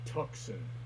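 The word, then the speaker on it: Tucson: why is it there you're like oregon or tuxen put in letters where they don't need to be yelling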